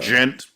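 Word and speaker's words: djent: How it's gent. Pronounced?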